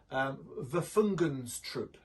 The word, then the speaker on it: Waffen: Waffen, I think, is the correct pronunciation.